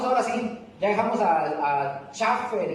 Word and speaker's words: Chafer: Este señor se llama Lewis Sperry Chafer, no Chafa, ¿verdad?